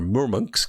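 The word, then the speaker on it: Murmansk: Petersburg and then mer monks witches are more monks that's the way they pronounce it and that's where the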